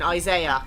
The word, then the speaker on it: Isaiah: Remember that pronunciation, Isaiah.